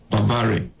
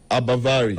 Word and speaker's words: Bavari: Uh how's your surname pronounced again, sir? Bavari. Abavari. Abavari. Okay. Abar Prof. Yes. Bavari.